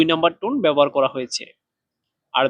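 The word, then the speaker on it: 活: তারপরে হুয়া, হুয়া, এই শব্দটাতে চাইনিজের 2 নাম্বার টোন ব্যবহার করা হয়েছে। 2 নাম্বার টোন উচ্চারণের নিয়ম হচ্ছে নিচ থেকে উপরে। এই শব্দটা উচ্চারণ করার সময় নিচ থেকে উপর দিকে উঠবে।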